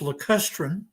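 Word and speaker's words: lacustrine: help you with your pronunciation here erica it's pronounced le custrin that's a type of sedimentary environment that's assumed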